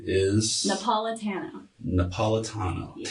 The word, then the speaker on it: Napolitano: Napolitano. Napolitano. Yes. Tano, not Tano. Tano if you want to be fancy. Tano. Well, you know, Tano, it doesn't matter. it's better than Neapolitan. Like, How often ice do you cream.